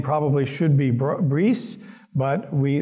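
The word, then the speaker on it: Brise: name probably should be briefs but we they have always pronounced it in Wisconsin as Bryce and so that's the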